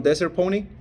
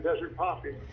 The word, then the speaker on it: Desert Poppy: your property over on Desert Pony. On where? Desert Pony, 4710 Desert Pony. 4710 Desert Poppy. Oh, I'm mispronouncing it. Yeah, Desert Poppy.